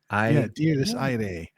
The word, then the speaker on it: Dies Irae: And in the Latin source of that term is Diés Irae, right? Or Irae. Diés Iraé. And guess what? They made a movie with that title. So we wanted to pronounce it correctly, which I think we have.